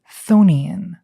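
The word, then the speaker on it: chthonian: That's c h o n i a n. I pronounce it thonian.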